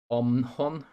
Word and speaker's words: OMON: And then another factor that would come on top of this is the Russian internal troops, the Omhon, that's how I would pronounce it, the OMON, the Russian internal troops, that specific group, the